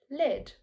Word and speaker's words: lead: The answer is lead, with the E sound like red.